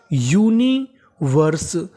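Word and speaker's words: universe: तो मीनिंग बनी यूनिवर्स और आगे लिखा है एस ई जो एस के बाद इ लिखा है हमें ई का उच्चारण नहीं करना क्योंकि इंग्लिश का एक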